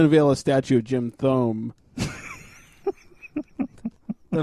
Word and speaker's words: Thome: Let's Jim get the guy who Thome. got us closest to a World Series. Let's Future get- Hall of Famer Jim Thome. Not to be confused with Jim Thumb.